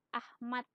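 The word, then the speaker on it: Achmad: mana Kalau kata Hai kalau Hai TJ dibacanya C kalau CH dibacanya h-nya ada namanya acmad Nah itu dibacanya Ahmad namanya ejaan soewandi kalau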